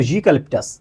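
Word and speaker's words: eucalyptus: ঠিক তেমনিভাবে ইউক্যালিপটাস। এটা কিন্তু ইউক্যালিপটাস। ওকে। তার মানে এখানেও আমার ইউ মানে জি এর মতো।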